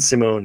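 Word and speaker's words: S1m0ne: that what yeah 2002 Simone and it's spelled s1m 0-n-e but Simone is the and Al Pacino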